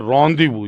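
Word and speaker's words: rendezvous: अब देखो इन द एबिस वास फिक्स्ड और रदीव इसको प्रोनाउंस करते हैं रदीव याद रखना फ्रेंच वर्ड है और आमतौर पर ओ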